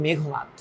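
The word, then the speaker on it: মেঘনাদ: বিদ্রোহী সরি বিভীষণের প্রতি মেঘনাথ বা উচ্চারণটা কিন্তু একচুয়ালি মেঘনাথ বিভীষণের প্রতি মেঘনাথটা কিন্তু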